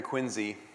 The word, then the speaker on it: Quincy: to be here in quiny uh that is by the way spelled with a z q i n zy if you're if you're ever asked about that I've only been here